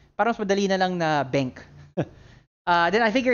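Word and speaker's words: BenQ: bank i don't know i've always pronounced it bank like the queue becomes a k uh i i do know a lot of people say ben q i think that's actually how most people say it but i don't know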